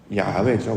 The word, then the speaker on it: 야훼: 야훼죠, 원래는. 근데 이게 사실은 발음하기 어려워요. 왜냐하면 호흡과 같기 때문에. 야훼 이렇게 호흡 같은 느낌이기 때문에 이걸 발음을 한다는 건 매우 어렵습니다.